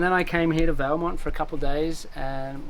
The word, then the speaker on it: Valemount: And now I'm here in Valemount. Am I pronouncing it right?